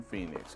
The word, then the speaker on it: Phynix: In Phoenix, because the H is silent.